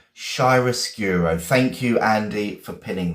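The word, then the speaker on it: chiaroscuro: Shyroscuro. Okay. And it's a noun. I'm going to spell it slowly. C H I A R O S C U R O. Shyracuro.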